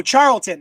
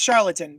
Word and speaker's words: Charlton: charlatan there were the oh charlton not charlatan charlton dc characters that